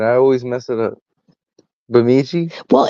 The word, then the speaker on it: Bemidji: Bemidji? Well, it doesn't look like you think it would be pronounced like that. Or something. It looks worse than it really is. Yeah, but it's just Bemidji.